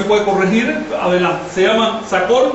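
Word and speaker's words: Tz'acol: Da primero cuatro nombres que son, todos se pronuncian agudos hasta donde yo sé. Si alguien me puede corregir, adelante. Se llama Sacol, Vitol, Alón y Cajolón.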